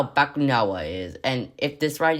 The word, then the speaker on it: Bakunawa: It's Bakunawa.